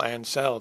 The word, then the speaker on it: Ancel: I kind of feel bad for Michael Ancel too. That's how you pronounce his name, because I remember him talking